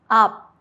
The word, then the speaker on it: 앞: 비읍, 피읍 becomes a light P. Example, 밥, rice, 앞, front. Close your lips but don't release the air like in pop.